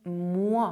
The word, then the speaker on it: moi: OI is pronounced as in "moi" (me).